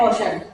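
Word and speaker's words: ocean: ठीक है, जैसे कि ये मैंने 2 एग्जांपल्स राइट किए हैं, सोशल एंड ओशन।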